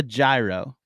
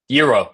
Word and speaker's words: gyro: Do I smell a gyro? I don't get it, Bizzy. Euro. It's called a euro.